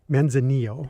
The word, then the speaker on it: Manzanillo: And did I pronounce that correctly? Manzanillo.